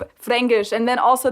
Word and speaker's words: Fränkisch: Yeah, so it's that's not just Fränkish, it's Fränkisch. Fränkisch. And then also they don't pronounce the K, they pronounce it like a G, as we just said too.